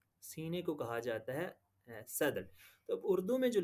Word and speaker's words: صدر: ہے صدر کی جمع، جسے ہم اگر صحیح پرونانس کریں تو یہ صدر لفظ ہے، کیونکہ صاد کے اوپر زبر ہے اور آگے جزم ہے دونوں، تو یہ صدر بولا جاتا ہے۔ تو صدر کہتے ہیں